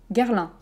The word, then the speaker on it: Guerlain: ok les deux derniers attention guerre l'un c'est un peu comme baelemans donc ces guerres l'enfant où e guerre guerre comme la guerre je déteste la guerre guerre rdr un petit peu plus prononcée peut-être que certains autres mots qu'on a vus mais pas hyper fort non plus guère 1 guerlain guerlain et le dernier